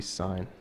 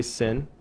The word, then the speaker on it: sine: you want hype so this one would be sign don't say sin you get hit in this class if you say sin seriously you're hit then